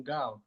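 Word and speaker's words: Nkauj: you get nk from gao gao is spelled the pong way so it's uh n-k-a-u-j so that's how they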